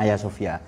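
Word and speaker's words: Hagia Sophia: Sofia tahu Ay Sofia tulisannya Hagi Sofia ini bacanya Ay Sofia Masjid itu loh ya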